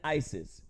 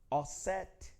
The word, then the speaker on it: Isis: Osiris and Isis. This is the anglicized Greek pronunciation of the words. Usir, right? Osset, right?